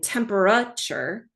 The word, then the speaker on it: temperature: A student just needs to learn that the vowel A in that 3rd syllable in temperature says the schwa sound, So research clearly shows